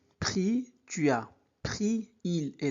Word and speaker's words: pris: On ne prononce pas s. Donc j'ai pris, tu as pris il est là.